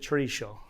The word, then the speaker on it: chorizo: All right, now we're going to talk about chorizo, or as Dan pronounces it, chorizo. Oh. Yeah, it's a different pronunciation.